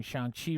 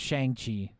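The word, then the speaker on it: Shang-Chi: wants so much uh I spent decades pronouncing Shang Chi wrong I did too I thought it was shangi um and then I you know the trailer came out and he's like uh Shan and I'm like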